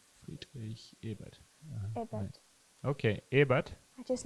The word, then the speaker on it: Friedrich Ebert: Ehart? Ebert Australian or accent. Erhard? Friedrich Ebert.